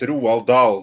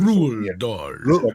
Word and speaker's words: Roald Dahl: He's very popular, the way that I say it, Roald Dahl. That is the proper pronunciation. That's why his name Roald Dahl. Say it again. Roald Dahl. Roald Dahl.